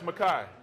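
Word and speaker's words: Mekhi: It's Makai.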